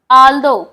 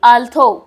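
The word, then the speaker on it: although: आल्दो पुजल्ड, puzzled by this answer, आल्दो मतलब क्या होता है, यद्यपि, आल्दो ध्यान से देखिए इसका प्रोनाउंसिएशन क्या होगा, आल्दो ना कि आल्थो, आल्दो होगा।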